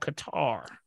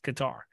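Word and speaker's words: catarrh: sinus issues there's a there's a symptom called Qatar Qatar you're gonna make me spell it right yes yes I got it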